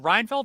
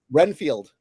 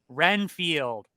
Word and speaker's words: Renfield: Dracula I'm reinfeld reinfeld his name is it reinfeld or weenfeld Renfield Renfield thank you I never know would you ever